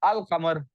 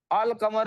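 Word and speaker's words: القمر: शमस और अल कमर अब आप देखें अल कमर में लाम प्रोनाउंस हो रहा है शम्स में लाम प्रोनाउंस नहीं हो रहा इसका क्या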